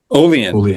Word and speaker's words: Olean: Olean.